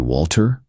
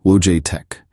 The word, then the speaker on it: Wojtek: By calling me Walter? It's easier for Americans to pronounce. is three syllables, Wojtek. If Americans can say Schwarzenegger, they can say Wojtek.